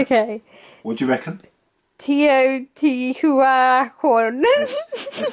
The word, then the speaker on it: Teotihuacan: Teotihuacan. That's not bad. Teotihuacan, I believe, is how it is in the original language, of obviously which I am fluent. Teotihuacan.